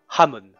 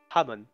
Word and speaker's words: Hamon: Je vais te faire comprendre que ça se prononce son nom Hamon. Ralamon. Rashamon. Hamon.